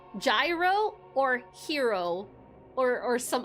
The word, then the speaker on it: gyro: It's called Euro. That's how you pronounce it. Wait, Queen, you've never had You've never had one. Euro. So, it's like the G is silent.